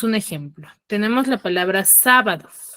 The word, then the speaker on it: sábado: Tenemos la palabra sábado. Sábado, por ejemplo, ¿cuál es su sílaba tónica? Sa.